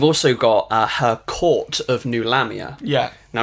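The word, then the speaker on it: Nulahmia: New Lamia, like new metal.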